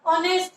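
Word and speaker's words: honest: अब ऑनेस्ट पढ़ रहे हैं आपको, उसको एच साइलेंट है, और जहां पर एच साइलेंट होता है वहां पर हम कौन सा आर्टिकल यूज करते हैं?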